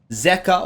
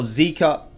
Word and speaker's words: Zeka: feedback on that Zeka or Zika. See... I looked up Korean pronunciations, and a lot of the Koreans said Zika, so I went with Zika. But people tell me, dude, pronounce it Zeka.